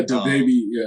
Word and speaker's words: DaBaby: Yeah, DaBaby. That's how you pronounce it.